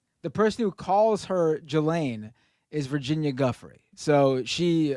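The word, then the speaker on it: Ghislaine: This is this time the person who calls her Gelain is Virginia Guthrie. So she obviously spends unfortunately a lot of time with Gelain Maxwell uh to know how to pronounce her name.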